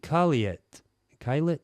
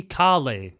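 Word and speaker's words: Caillat: Breathe featuring Colby Kat Klet. I actually have never looked up how to pronounce this lady's name, which is a shame. Hey, it's edit and cled here. So, it's um Colby Kali, apparently.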